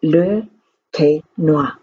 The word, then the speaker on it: Le Quesnoy: I lived in the little town of Le Quesnoy in northern France. And there's the little girl. Its name is pronounced Le Quesnoy.